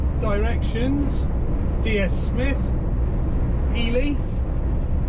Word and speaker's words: Ely: directions DS Smith Elie or Eli however you would like to pronounce it e y Cambridge